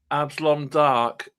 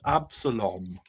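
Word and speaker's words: Abslom Daak: Um, and I always I always just I've just realized I've been calling Absilon Dark wrong, his name wrong all these years. I always thought it was Absalom. I always added an extra O goodness me. How how foolish.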